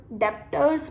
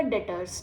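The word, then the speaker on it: debtors: आपकी स्पेलिंग होगी डी ई बी टी ओ आर एस। आप उसको डेप्टर्स मत पढ़ना। ये होता है आपका डेटर्स।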